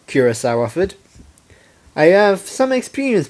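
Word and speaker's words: Curaçao: Curacao? The Blue Earth pony corrected. The second C is pronounced like S, oui?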